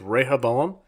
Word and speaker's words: Rehoboam: right I say Rio Bravo that's how it's pronounced in the Bible it tells you exactly how to say it's Rehoboam but they say it differently in the show